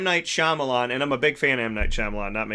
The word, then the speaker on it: Shyamalan: them it's just like when I think about his name I think about rama lama but you know because it's like it's a lot of syllables whatever don't judge so M Night Shyamalan and I'm a big